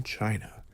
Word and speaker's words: Qin: The very name China is thought by some to derive from Chin, pronounced Chin.